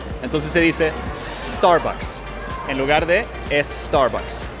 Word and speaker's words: Starbucks: No es Starbucks, es Starbucks. Starbucks. La R en inglés se produce aquí abajo, la garganta. Star. Y luego el bucks, el es un sonido también más bajo.